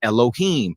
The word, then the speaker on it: Elohim: meaning the judges were called alayam which some people pronounce as Elohim these are the rulers